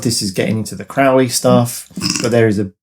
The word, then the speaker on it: Crowley: point in his life he said that it's Crowley that rhymes with holy and that's how I know that you're my friend but if you call me Crowley which rhymes with fouli then I know that